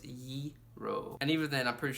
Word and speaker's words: gyro: know don't pronounce it gyro or Jareau or Giro like it's kind of like saying the word euro like the money euro but its ye roll and even then I'm